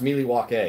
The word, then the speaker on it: Milwaukee: It's pronounced Milwaukee, which is Algonquin for the good land.